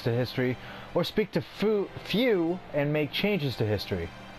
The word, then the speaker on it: Fu: None of us know who Few is, or Few. What he wants. Okay, so it's pronounced Few. Not foo. Few.